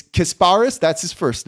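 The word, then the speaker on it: Kasparas: this too well hold on so it's it's kasparis that's his first name Yak chanes chones yes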